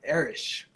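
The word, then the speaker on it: Erich: So the Germans pronounce it Erish.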